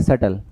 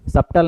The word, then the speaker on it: सटल: इसे क्या पढ़ेंगे? सटल। सबटल नहीं पढ़ेंगे। सल सटल। सटल।